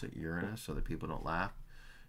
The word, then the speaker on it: Uranus: went on to Uranus that's the way you pronounce it Uranus so that people don't laugh Uranus um on